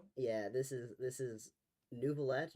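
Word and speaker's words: Neuvillette: This is This is Nouvolet. Nurvallet. They They pronounce it with an R in the game, and there's no R there.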